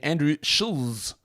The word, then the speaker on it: Andrew Schulz: And as someone told me in this stream that I was pronouncing his name wrong, comedian Andrew Schulz.